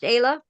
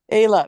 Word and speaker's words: Ayla: It is pronounced Ayla? Ayla, yep, lazy A.